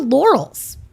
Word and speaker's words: Lorals: And if you think about it, it's oral with an L in front of it.